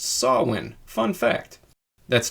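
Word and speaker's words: Samhain: Also, Sam Hayne is actually pronounced Sawin.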